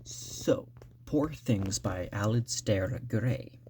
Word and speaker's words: Alasdair: So, Poor Things by Alasdair Gray. I think it's Alasdair Gray. Temptation to just say Alasdair, but it's actually spelled with a D in there.